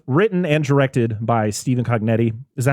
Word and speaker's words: Cognetti: So this was written and directed by Stephen Cognetti. Is that how you pronounce his last name?